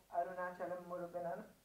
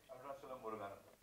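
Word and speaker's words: Arunachalam Muruganantham: point of view, and you've made him portray Arunachalam Muruganan. Have I said it right? Arunachalam Muruganan. Arunachalam Muruganandan.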